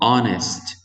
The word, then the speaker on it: honest: never tell lies he never tell lies so honest honest not honest this age is silent attempt so we write it but we